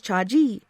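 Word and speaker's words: 자지: for the penis is cha-chi with emphasis on the first syllable but joni loves chachi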